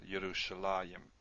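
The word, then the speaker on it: ירושלים: Yerushalah, you'd expect a yud there. Sometimes you do. There's a few cases we do see a yud here, but it's pronounced still Yerushalayim.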